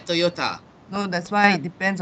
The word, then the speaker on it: Toyota: like Japanese it's Toyota the correct pronunciation is with the TA Toyota oh that's why it